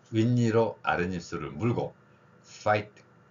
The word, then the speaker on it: 파이팅: 자 니로 아랫입술을 물고 파이팅 파이팅 자 니로 아랫입술을 물고 파이팅 파이팅이 발음입니다 소리에 대해서 우리말에 없기